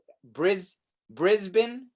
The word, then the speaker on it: Brisbane: So it's Brisbane. That's how you pronounce it?